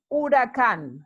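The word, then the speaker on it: huracán: a hurricane is an oracan notice the accent here so we place the emphasis on the last syllable those both bienton are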